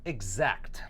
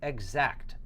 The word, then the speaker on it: exact: it very good exact exact now notice the pronunciation is exact exact so it sounds like I'm saying egg right like like the egg right that we eat so egg and then